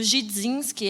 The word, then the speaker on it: Gidzinski: E para quem tentar pronunciar meu sobrenome, o D no Gidzinski é mudo.